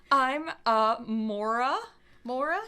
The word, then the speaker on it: Maura: cool um what's her name I'm uh Maura Mora how do you spell that m-a-u-r-a the way Mora is spelled rat